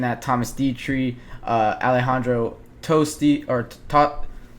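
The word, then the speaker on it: Tosti: that I'm looking at Thomas dietre uh Alejandro tosty or to toti that's how you pronounce it Alejandro toti um finished one under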